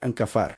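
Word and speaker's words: kaphar: Se pronuncia exactamente así, ancafar.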